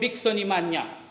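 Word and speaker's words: Bixonimania: The disease was called Bicksonimania. It rhymes with pneumonia, anemia, osteopenia, all these diseases that have a nia in it.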